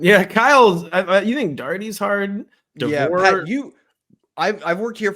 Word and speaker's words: Daugherty: dirty who's called Dougherty it's darty folks how hard could it really be you know this weird